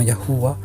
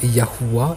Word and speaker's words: YHWH: lettres latines d'ailleurs, et qui se prononçait au moins Yahuwah.